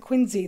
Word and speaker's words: Quincy: Quincy Massachusetts that yes they pronounced at Quincy there and got to go